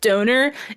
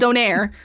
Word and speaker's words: donair: And then every American goes, "Oh, it's pronounced donor." It's a different thing. I hate when people try to correct me about the thing that originated where I'm from. It's a whole different rap. It's called donaire and it's this white